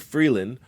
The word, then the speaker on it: Freeland: they turn 30 christop Freeland pronounced free like the trade agreement I thought we had with the US and land like that thing that Rocks pop out of and Karina Gould pronounced